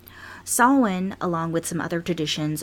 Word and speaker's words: Samhain: che I n but their pronunciation is Sawin Sawin along with some other